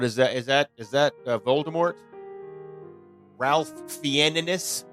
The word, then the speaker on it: Ralph Fiennes: Ralph Fiennes? Or is that pronounced Ray Fiennes? Ray Fiennes, yes.